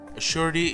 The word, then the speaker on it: Sappheiros: Also, Sappheiros is the correct way to pronounce her name, for those of you who don't know.